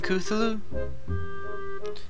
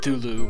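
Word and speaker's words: Cthulhu: got you in a single file line I'm kuthulu I know it's Tulu but it's you had to pronounce it differently to match the tune of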